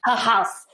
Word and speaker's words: Haghuis: appropriately for us please it is pronounced a house oh almost ha ha